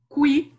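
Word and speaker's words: kwi: Kui.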